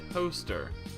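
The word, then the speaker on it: Towcester: How would you spell the name of the town pronounced Toaster?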